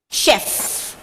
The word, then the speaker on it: chef: The last one, chef. Okay, very good. So the spelling is C-H-E-F and it is pronounced as chef, not chef.